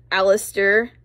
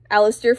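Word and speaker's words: Allister: yeah we have him Alistair from Pokemon shield and his name is spelled a l l i s t e r so it's like all I stare that's our first spelling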